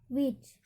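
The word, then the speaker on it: which: यहाँ पर देख लीजिए WHAT, यहाँ पर WH की तुरंत बाद क्या आ रहा है, A आ रहा है। वेयर में WHE आ रहा है, और विच में WHI आ रहा है, तो यहाँ पर H साइलेंट होगा।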